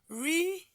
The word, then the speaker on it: reduplicate: It is the pli, that is the third syllables that receives what? The primary stress. So automatically, this is the right way to write this word. Reduplicate.